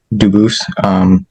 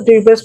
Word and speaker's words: Dubus: I am Dubus. Dubus is the English pronunciation. Dubus is the original French.